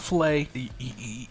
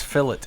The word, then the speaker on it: fillet: It's not fillet. You're not slicing fish. Is a fillet a type of steak, or is it a way it's cut? Anyway, no, this is fillet. It's spelled differently.